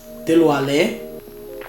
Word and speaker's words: Dilwale: Literally, it says it's like Dil, like you would say deal, so with a shorter E sound, so Dil. Dilwale.